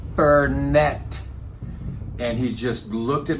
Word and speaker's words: Fernet: said to him, I finally was like, "It's pronounced Fernet."